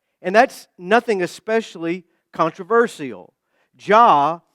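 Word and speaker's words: Jah: Ja is the pwa accented pronunciation of Jehovah God as revealed in the Old Testament.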